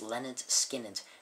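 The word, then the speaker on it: Lynyrd Skynyrd: this is good one Leonard skinnard pronounced Leonard skinnard this is Leonard skinnard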